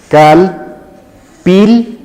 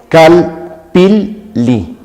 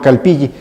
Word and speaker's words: Calpilli: En realidad la pronunciación correcta es Calpilli. La doble L suena como doble L, es decir, tenés que pronunciar las dos L's. Calpilli. Esa es la forma correcta y no Calpilli, ya que esa es una pronunciación errónea.